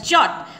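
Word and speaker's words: yacht: It is pronounced as jot.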